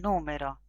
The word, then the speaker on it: número: Por ejemplo, acá tenemos tres palabras. El número, lo numero, lo numeró. Entonces tenemos el sustantivo, número, el verbo en presente, numero, y el verbo en pasado, numeró. Son exactamente los mismos segmentos,